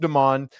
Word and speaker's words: Demon: It's spelled like demon, but it's pronounced Demon.